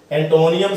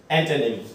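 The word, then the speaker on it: antonym: इसनों कई बच्चे जो सिनोनियम भी बोल देते, सिनोनियम, एंटोनियम, सिनोनियम। ठीक है, आप बोल देते हैं, पर जो उच्चारण है जे सही उच्चारण की गल करिए सिनोनिम है, सिनोनिम, एंटोनिम।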